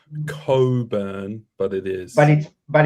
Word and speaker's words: Cockburn: Rocco, how do you pronounce a suburb? Cockburn. Is that how you Yeah. pronounce it? It is. It's Cockburn. Nah, it's Coburn, but it's Cockburn.